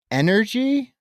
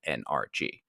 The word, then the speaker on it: NRG: the energy sector uh I've never heard anyone pronounce it energy I mean I say energy a lot but uh they don't refer to the stadium in which you are referencing as energy but rather they use the three letters very articulated NRG right but it's a